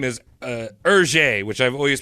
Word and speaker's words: Hergé: You gotta pretend you have like a mouthful of melted butter. Hergé.